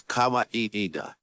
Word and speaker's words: Kawaida: It is pronounced as Kawaida.